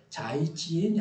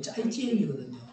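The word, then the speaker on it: 再见: 그게 이걸 자이지엔이 아니고 짜이지엔이거든요.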